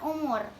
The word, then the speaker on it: umur: Bacanya itu guru, itu, dan umur.